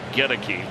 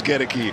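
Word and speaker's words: Goedeke: like it to pronounce the emphasis on the first part get a key right number 60.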